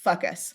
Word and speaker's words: Fucus: And I'm giggling because the scientific name, this is definitely not how the genus is pronounced, but it's fucus.